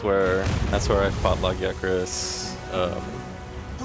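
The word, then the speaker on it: Lagiacrus: So, that's where that's where I've fought Lagakris. Um, the lagris, that's the cause of naggy. See, that's how you pronounce it.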